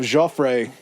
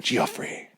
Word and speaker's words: Gioffre: And then you have Gioffre in 1482. And it's spelled such a pretentious It's Jeff, but it's spelled like the pretentious Jeff way. It's g i o f f r e.